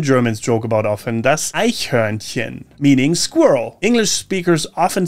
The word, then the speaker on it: Eichhörnchen: Das Eichhörnchen, meaning squirrel. English speakers often struggle with the CH sound, which in this case is very soft, almost like you're gently clearing your throat.